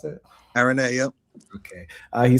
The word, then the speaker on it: Araneae: Is that how you pronounce it? Araneae, yep.